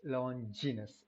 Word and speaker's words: Longinus: quintillion and moving on to longiness and it's longinus actually it's not anything else apparently it's pronounced longinus okay when we talk about longinus the thing